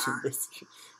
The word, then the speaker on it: Anubis: The Anubis. You pronounced it wrong.